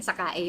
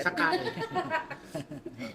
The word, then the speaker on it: Sakae: Hindi ko oo oo sakay ba yun? Sakae yung pronunciation. Sakae.